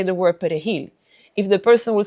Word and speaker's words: perejil: Thinking of race, the 1936 massacre of Perejil is parsley. And because the Spanish he is not pronounced in French, they will ask a person to say the word perejil.